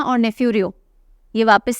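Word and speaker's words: Neiphiu: लिए सीएम बने हैं नेफ्यू रियो नेफ्यू भतीजे के लिए भांजे के लिए बोलते हैं ना नेफ्यू यूज किया जाता है ना तो स्पेलिंग अलग है पर प्रोनंसिएशन सेम है नेफ्यू क्यों रोया नाग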